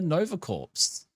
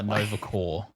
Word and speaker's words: Nova Corps: detective chop where she's recruited to join the Nova corpse uh yeah what are your thoughts and takes